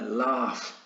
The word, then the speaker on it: laugh: Vale, laugh, veis que ahí está escrito una G y una H, sin embargo el sonido es una F, laughed, ¿vale?